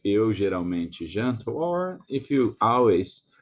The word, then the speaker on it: geralmente: Com quem você geralmente janta? About this word, geralmente, there's an L, and we don't pronunciate it as an L. We pronunciate it as a U sound, like the U vowel, like geralmente.